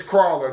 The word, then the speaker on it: Crawler: It's Crawler, dude. This is how, say it correctly, and then people wouldn't be getting it mixed up. You're trying to roll your R's for some reason.